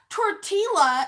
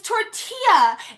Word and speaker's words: tortilla: class won't roll their arse and it's not torte ela its tortilla and they just want you to promise the